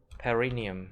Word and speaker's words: perineum: Nó nhấn âm hai nhỉ? The second syllable. Perineum.